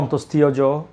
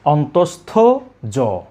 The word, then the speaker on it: অন্তস্থ জ: এটাকে অনেকে বলে অন্তস্থীয় জ, অন্তস্থীয়। এই উচ্চারণটা করে থাকেন সম্পূর্ণ ভুল। আমরা বলবো অন্তস্থ জ।